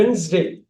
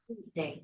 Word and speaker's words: Wednesday: அந்த டி வந்து நம்ம சைலண்டா வச்சுக்கணும்.